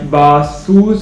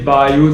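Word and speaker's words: Baseus: Okay, so my next product is the Basus, or some people say Bayus. I had searched the pronunciation which said Bayus, and I don't think I can pronounce it well, so I'm sorry if I'm wrong.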